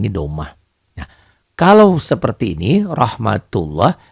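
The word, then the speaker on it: رحمة الله: atas sini kali ini Doma kalau seperti ini rohmatullah dibacanya tuh rohmatullah tulisan-tulisannya seperti ini bacanya beda ya tulisannya akan Rahmatullah elne di bacalah ya ndak dalam bacaan dibaca loh rohmatullah makanya saya tulis disini kadang-kadang kalau tulisan latin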